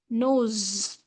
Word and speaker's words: nose: The right answer, the right pronunciation is nose.